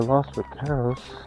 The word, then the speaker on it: Los Vaqueros: Alright, to Los Vaqueros, so that's how you pronounce it.